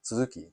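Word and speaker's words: 鱸: like uh aji homo no it's not anji or hummel it's suzuki so it's japanese sea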